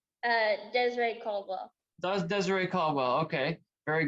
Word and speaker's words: Dezrae Caldwell: say your name for me so i don't pronounce it wrong uh desiree caldwell does desiree caldwell okay very good i wasn't